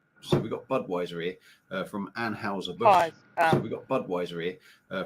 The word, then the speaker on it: Anheuser: YouTube and stuff and people were pronouncing it anhauser but I couldn't find any clips of people pronouncing it that way well now I have lips it's not an infuser no it's weird lights with on and has a bush reportedly yeah they say Anne Houser bush yeah but it's Anheuser yeah it's weird that's